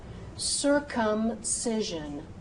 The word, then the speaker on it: circumcision: If the word begins with the C and is followed by those vowels E, I, or U, that C should become an S sound, a soft C sound.